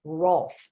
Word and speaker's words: Rolf: Rolf, and I have to always make sure I pronounce it correctly. It's the hard German F. It's ROLF.